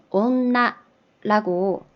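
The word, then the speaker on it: おんな: 기본적으로는 이렇게 상가라고 읽지만은 뒤에 니은 모음으로 시작할 때는 얘가 이렇게 닮아가지고 온나라고 발음이 되고요.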